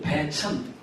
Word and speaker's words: 배천: 그런 곳이 있다는 것니다 환자로 환자로 천이라고 쓰기 때문에 사람들이 천이라고 읽는데 사실은 흰자로 읽지 않고 땅 이름일 때는 배라고 읽는다 그래서 이걸 황해도 배이라고거든요 여기 한 하 분들이 많이 계실테니까 아시겠지만 백천이 아니고 천입니다 황도 천이라는 작은 온천